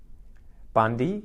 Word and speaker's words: Bundy: So this is about halfway between Brisbane and Cairns, and the first syllable is bund. Bund. Can you guys think of what this could be? Bundy.